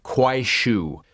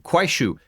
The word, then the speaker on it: Kuaishou: I just paused the recording and looked up how to pronounce it. Quue. K U A I S H O U. Quue.